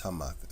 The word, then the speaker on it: Hamath: But it's spelled Hamath, but it's Hamath.